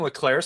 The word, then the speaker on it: Leclerc: think like Finnegan and Leclerc still makes sense. Or it's Leclerc. I always mess up that final C in the Yeah. French No, you're right. pronunciation of it or Leclerc.